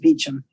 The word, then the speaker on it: Beauchamp: I've lived in London a long time, and Beauchamp is pronounced Beecham.